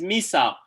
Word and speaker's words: Misagh: Is it Misa or Misag? It's Misagh.